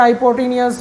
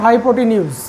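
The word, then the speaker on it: hypotenuse: कई बच्चे बोलते हैं, कई स्टूडेंट्स बोलते हैं हाइपोटेनियस और हाइपोटेन्यूज और दिस एंड दैट। सो ये क्या है, इसकी प्रोनाउंसिएशन क्या है, हाइपोटेन्यूज, ठीक है।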